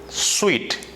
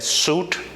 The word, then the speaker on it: suite: bouquet the second dome sweet some of the people used to mispronounce this word a suit but it's not that the correct pronunciation of this term is sweet and you know what